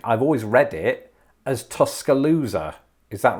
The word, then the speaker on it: Tuscaloosa: always read it as tuscaloosa is that right tuscaloosa oh i pronounced the s as a zed instead of an s which is an obvious mistake now that i've said